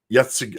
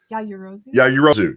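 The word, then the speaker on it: Yaoyorozu: Yeah, it's and then we've got Momo Yatsugi. I can never say her name right. How do you? Yajirozu.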